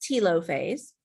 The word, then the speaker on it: telophase: That takes us into telophase or sometimes is pronounced tilophase but and cytochinesis.